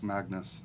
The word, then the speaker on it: Magnus: Magnus. Yeah, Magnus. Magnus. Yeah. That's a Swedish way to say it. Yeah, but he's Swedish, so we gotta say it like that.